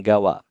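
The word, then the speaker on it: 川: Tolong diingat ya minasang, kalau kanji sungai berdiri sendiri dibacanya Kawa.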